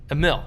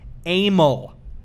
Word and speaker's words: Emil: say it's like Emil. Yes, everyone guessed Emil, like it's some like Puerto Rican name or something. It is pronounced Amel. Amel. It looks like email. It sounds like anal.